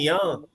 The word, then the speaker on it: Young: Actually, actually you pronounce his name Young.